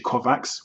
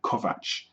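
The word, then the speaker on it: Kovacs: the teshi kovat trilogy I have a hard time pronouncing that surname because I for a while I was actually calling him teshi kovax which is wrong it's actually teshi kovat so this book is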